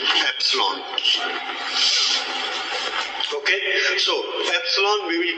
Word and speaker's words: epsilon: How it is pronounced? Epsilon.